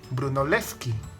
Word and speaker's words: Brunelleschi: por ejemplo castillo felipe brunelleschi el como que en italia das l se pronuncian por separado y la che sobre 8 como una q no brunelleschi nació en